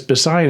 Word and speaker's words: Bisayan: The word doubt is actually Bisayan, and it's a little confusing because Bisayan is actually pronounced with a B, and Visaya is the central Philippines.